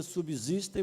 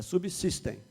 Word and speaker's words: subsistem: ele a gente pronuncia subsistem mas em português o s depois do B é pronunciado com som de c então é subsistem fica melhor subsistem porque